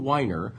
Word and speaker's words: Winer: go look up Jonathan Winer which is spelled like the drink WI n EE are not WEEI no no wine with an R at the end look up Jonathan Winer Devin